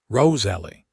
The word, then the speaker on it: Rosalie: "Roose Ellie." The way he said her name with a slight emphasis on the second syllable made it sound almost musical.